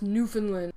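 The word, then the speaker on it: Newfoundland: Uh, New Foundland. I always found that weird. The that the Vikings found this great new place and chose a name like New Foundland. Yes, I know it's pronounced New Finland.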